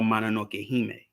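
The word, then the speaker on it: Mononoke-hime: going on um in princess mananoki or mana no kehime you know that's how you say it in in japan you know so you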